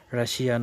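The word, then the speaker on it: Russia: double S আই এ রাশিয়া কিন্তু আসলে এটা রাশিয়ান নয় এটার উচ্চারণ সঠিক উচ্চারণ হচ্ছে রাশা রাশা সঠিক উচ্চারণ হলো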